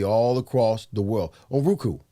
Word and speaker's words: Roku: So we're gonna be all across the world on Roku. It's Roku, right?